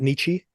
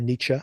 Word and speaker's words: Nietzsche: famous uh writing that Nichi did or Nietzsche I guess you pronounce it and the quote he